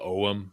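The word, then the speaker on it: Ogham: is similar to Irish Ogum. In Ireland, they call it Om. In America, we pronounce the G.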